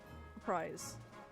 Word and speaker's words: reprise: Reprise. So like pronounce the S like a Z.